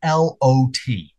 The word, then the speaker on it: lot: So I would like you to say the word that is spelled L-O-T. Ah, okay. So for me, most of the time I would have to say, it's almost like Oz and Box, right?